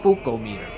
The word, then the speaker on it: Spookometer: spook oh meter spechometer no no no it's pronounced spooko meter or some oh it's getting spooked oh no